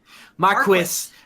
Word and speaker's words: Marquis: Lafayette says, or Marquise de Lafayette, or Marquise, depending on... Marquis? Lafayette. Marquis. Final Fantasy 12, I think, said Marquis. So I think that's technically Marquis is how you really? pronounce it.